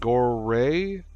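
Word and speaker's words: Goremagalagirl: girl gore mgala girl I'm not sure if they pronounce it goray but it's spelled Gore g o r e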